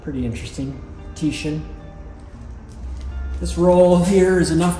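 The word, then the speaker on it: Titian: I mentioned last time that this is Tyishan red. I found out later it's pronounced Tishan. is named after an Italian Renaissance artist.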